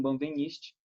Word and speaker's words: Benveniste: só no que vem, no segundo ano, com Benveniste, certo?